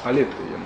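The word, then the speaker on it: ἀλήθεια: Он возвращается в концепцию истины к древнегреческой концепции, которая алетея называлась. Алетея, а отрицательная частица, нет, по-гречески алетея. Ударение, да, ударение на эту алетея.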